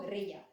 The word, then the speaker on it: guerrilla: Pero alguien que sea anglohablante no es capaz de pronunciar la palabra guerrilla, y la pronuncian exactamente igual que pronuncian la palabra gorila, que la escriben como la escribimos nosotros. En inglés, gorila se escribe como en castellano, y ellos más o menos dicen gorilla, pero cuando leen guerrilla, dicen gorila.